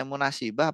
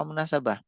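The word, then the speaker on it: مناسبة: usah bingung cara membedakannya kalau dia itu jadi sifat jadi sifat itu berkedudukan jadi naat ya berarti dia Isim fail bacanya munasibah tapi kalau jadi bukan sifat misalkan jadi apa kayak mubtada atau mudof gitu ya itu nanti bacanya munasabah dalam kesempatan ini Fi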